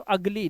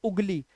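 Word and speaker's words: ugly: यू के बाद जी और एल है, दोनों कॉन्सोनेंट है तो अगली, ना कि उगली।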